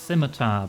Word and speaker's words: scimitar: I mean, I know it's pronounced scimitar, but when you spell it like that, you've got to say ski, right? Cuz if you just say simmy, that just feels weird.